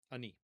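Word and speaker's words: אֲנִי: Aleph, nun, yud, and we pronounce it I, ani.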